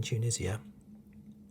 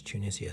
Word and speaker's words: Tunisia: now we sp we in england we pronounce tunisia slightly different tunisia whereas in america i think they say to tunisia no tunisia that's it i think it's tunisia in america as we pronounce it tunisia tunisia now when you